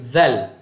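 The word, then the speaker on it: ذال: So dia jadi zal. Okey, ini huruf zal. Baik. Alhamdulillah. So huruf zal dalam ejaan tulisan Melayu dia adalah D-Z-A-L. Zal. Okey, keluarkan lidah sedikit sahaja. Zal.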